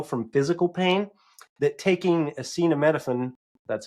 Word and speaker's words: acetaminophen: Other research found that the pain from rejection is so similar to what we feel from physical pain that taking acetaminophen, that's how you say it, whatever Tylenol is,